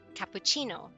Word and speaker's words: cappuccino: If it has no H in there, then it has the ch sound. The ch, like cappuccino. Cappuccino.